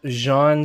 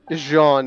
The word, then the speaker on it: Jaune: It's Jean spelled like French. Yeah, it's spelled the French way, so it's Jaune. As in like Jean is the correct way to pronounce it.